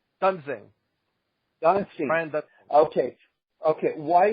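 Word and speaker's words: Duensing: mind was, well, why are you not leaving Duseling in to, am I pronouncing his name correctly, Brian Duseling? Why are you not leaving him in to pitch to Devon Travis? I'm sorry, what's his name? Dunsing.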